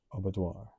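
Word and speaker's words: aubadeoir: Pronounced abattoir. So, I'm not exactly sure if I've experienced a feeling of abattoir.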